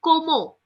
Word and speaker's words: comment: also which is there no you don't pronounce it's Como it's combo yes it's c-o-w-m-e-n-t is